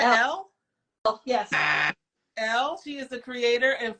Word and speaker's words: Elle: Elle, she is the creator and founder of Beloved Upcycle, which what is that noise?